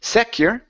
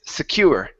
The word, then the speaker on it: secure: next up is secure the stress is on the end with this word instead of secure it's secure secure one more time secure